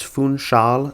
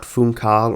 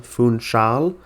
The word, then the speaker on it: Funchal: Thank you to the person in the comments who highlighted that for me, but it's Funchal, not Funcal or Funchal, Funchal.